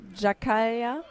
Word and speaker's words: Giaccaglia: also police she hasn't helped us with the pronunciation but we know that he's a policeman okay I was right it's Jan Lua jaaya jaaya okay right I'm going with that then